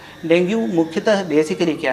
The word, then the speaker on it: dengue: डेंगू मुख्यतः basically क्या है, जैसे इसका प्रोनाउंसिएशन बेसिकली डेंगी होता है, हम लोग डेंगू बोलते हैं इसको।